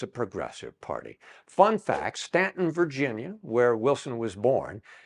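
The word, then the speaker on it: Staunton: n t n could be Stanton but it's pronounced Stanton and he was born at 20 couter Street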